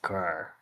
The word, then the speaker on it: cul: It's pronounced cur.